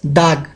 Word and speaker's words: dag: Days is spelled as dag. Dag. Dag means day.